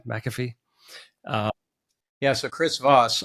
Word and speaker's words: McAfee: I mean, he's a big deal in a lot of different spaces, but yeah, Robert Chaldini and John McCaffy, is that how you pronounce his name? McAfee.